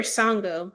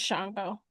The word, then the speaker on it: Shango: Is it Shango or Songo? It's Shango, but spelled without the um Oh, you're listening to audio book.